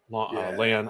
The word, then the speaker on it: Lan: along with Maureen and Lan. I almost said his name wrong. I almost said Lon. That is wrong.